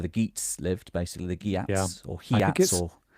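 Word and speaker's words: Geats: GS lived basically the Guats or I think it's I think it's Yats. Exactly. There's so many different pronunciations. Yeah. Uh I mean there's so many wrong pronunciations.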